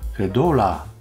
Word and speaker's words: Fedora: が、Fedora は英語圏では Fedora と発音するそう。こっぱずかしいので Fedora で通しますけど。